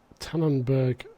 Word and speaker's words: Tenneberg: of the uh the uh Tannon let me pronounce this right it is tanenberg map it's obviously a German map um it's